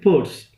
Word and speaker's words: Peirce: of this surname is Pei RCE but we pronounce it pours he used and termed the word semiotic and